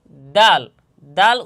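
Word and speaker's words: د: জিহ্বার আগা সামনের উপরের দুই দাঁতের গোড়া এবং সামান্য তালুর সঙ্গে লাগাইয়া দাল। দাল উচ্চারণ হবে।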